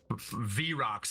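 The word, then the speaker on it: Vrock: V-Rocks, baby.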